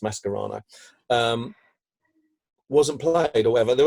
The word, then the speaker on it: Mascherano: is why mascara no or mascherano actually is pronounced mess karana wasn't polite Leto ever